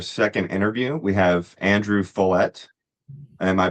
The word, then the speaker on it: Follett: Here for our second interview, we have Andrew Follett. Am I pronouncing that correctly? Yes, you are. Rhymes with wallet.